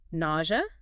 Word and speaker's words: nausea: Nausea? That one can be tricky. It's got that sort of Z or sound in the middle, N-A-U-Z, or N-A-U-Z. And the O sound itself might trip some people up.